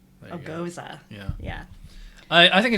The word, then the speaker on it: Gose: say then oh yeah it says on the wet back of the Westbrook and pronounced goes uh agosa yeah yeah I I